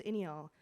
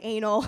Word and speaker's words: Iniyaal: So I tell my friend, I'm like, "Go tell Zach that my name is Inial."